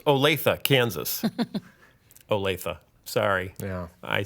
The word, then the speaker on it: Olathe: Oh, and it's pronounced Olathe, Kansas.